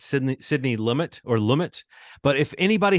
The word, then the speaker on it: Lumet: we did try to roll with some new pronunciation, but it's futile. It's Sidney Lumet.